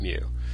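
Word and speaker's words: μ: we're dividing by capital N that means we must have taken a sensis so we have the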